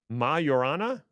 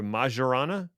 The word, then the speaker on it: Majorana: The Microsoft Majorana or Majorana. I've heard it pronounced both ways from different Microsoft people.